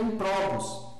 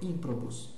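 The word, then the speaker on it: improbus: No outro caso, eu não vou ler em provos. Perceba que a última é breve. Por que que ela é breve? A ú a vogal da sílaba, da sílaba pro não é longa, né? Não tem macram ali, não é de toma e não tem miniconsoante. Então é breve. Então a tônica é anterior, ímprobus, né?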